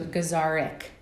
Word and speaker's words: Gazarek: I've gotten that many times yeah technically it rhymes with guitarc guitarc so gazarik okay gazar gazar guar I I always remember